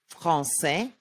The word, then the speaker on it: Français: If there's a cedille, it's pronounced like S, even if it's followed by an A, O, or U. Français, garçon, déçu, D, dauphin, E, éléphant, F, fleur.